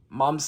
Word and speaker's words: Mum: Next up, we have Mum's School, because it's pronounced Mum, of course, in Australia and the UK.